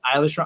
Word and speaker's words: Eilish: and mark says oh i've been saying billy eilish i think that's it's eilish is the right way to say it